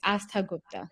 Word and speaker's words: Astha Gupta: And yes, you pronounce it like well. It's Astha Gupta. That's fine. Astha Gupta.